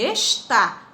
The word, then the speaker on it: está: Então, existe uma diferença entre esta é um pronome demonstrativo, e está. Está é um verbo e é acentuado, tá bom? Esta é uma paroxítona e está é uma oxítona.